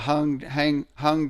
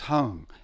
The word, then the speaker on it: Hung: There's the hung drum or the rav drums, which are really sweet.